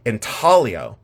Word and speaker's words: intaglio: know the UK say intalo they don't pronounce the G I live in Ohio in a cornfield so I say Ino deal with it so